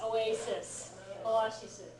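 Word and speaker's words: オアシス: thirsty anybody know Spanish I'm told it's a lot more like the Spanish word for this thing than the English word it's also more like the spelling yes Oasis it's more like the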